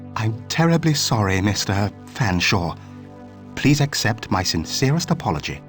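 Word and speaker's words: Featherstonehaugh: drink then what ex excuse me Mr Featherstone hore I presume I can't believe it no can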